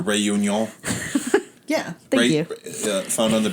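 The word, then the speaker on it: Réunion: island of reunion reunion it's spelled like reunion but it's French so you know rayun yeah thank found on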